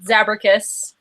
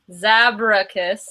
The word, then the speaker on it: Zabracus: And then there's a special collection devoted all to me called Zabracus. And I will repeat that because people don't know how to say it. Zabracus.